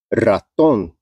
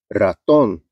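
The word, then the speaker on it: ratón: que ter o acento raton raton É uma palavra aguda terminada em n además ademais uma palavra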